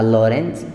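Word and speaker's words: Lorentz: था उसका नाम था लॉरेंज। ठीक है, इनफैक्ट ऐसे लिखा जाएगा, अगर इंग्लिश में लिखोगे तो थोड़ा ध्यान देना, टी साइलेंट है, ऐसे लिखा जाएगा।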